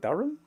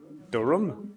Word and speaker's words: Durham: is a guy from durham is how you pronounce it durham durham like that okay he was a medium uh